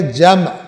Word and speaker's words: جمع: عربی کا لفظ ہے، یہ ہے جمع، میم ساکن ہے، ہم اردو میں کہہ دیتے ہیں جمع کرنا، کیونکہ میم ساکن بولے تو ذرا تلفظ مشکل ہو جاتا ہے۔ وہ تمہیں جمع کیے